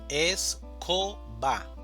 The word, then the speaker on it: escoba: La división silábica es escoba. El acento prosódico va a ser co, escoba o la mayor fuerza de voz. Tenemos la palabra iglesia, iglesia.